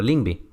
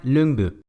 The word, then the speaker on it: Lyngby: Por ejemplo, mi universidad se encuentra en un distrito llamado de esta forma, entonces cuando lo vi fue como, chido, Lyngby, pero resulta que esta palabra se pronuncia Lyngby.